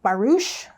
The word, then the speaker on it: barouche: It's a French pronunciation, I think, barouche.